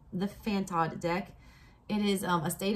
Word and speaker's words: fantod: And it is meant, all right, Fanted, first of all, I had to Google it. Your girl didn't know, and I have a doctorate degree. Fantad, or make sure I'm saying this right.